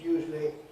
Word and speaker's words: usually: another one usually like actually it's not usual in four but it's usually either two as I just said it usually or if it's three it's usually usually usually with awah in the middle So those all will